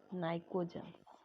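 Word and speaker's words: pnictogens: Suffocation, तो इसीलिए इनको नाइकोजेंस बोला जाता है। पी साइलेंट रहता है यहाँ पर, नाइकोजेंस।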